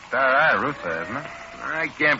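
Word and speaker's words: Staraya Russa: Oh, Russia, if they only had names you could pronounce. Smolensk, Bryansk, Minsk, Pinsk, Stary Ruska, Novgorod. Novgorod, not Novgorod. It's Stary Russa, isn't it?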